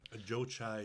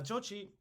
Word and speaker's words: Jochi: son inherits your stuff Joe chai sounds like a Starbucks order yeah I'll take a Joe chai yep yep oat milk please yep oat milk yup yes please now uh jochi is how I'm pronouncing